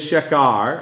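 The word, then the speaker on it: שכר: let's just pause there that Hebrew word for strong drink is shakar I think that's how the Hebrew pronounce it which always means a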